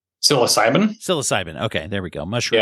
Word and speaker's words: psilocybin: It's a psychosilium. How do you say that? Psilocybin.